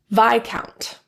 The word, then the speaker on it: Viscount: Illinois, Des Moines, core, debris, Viscount. T. T is a very commonly produced silent letter.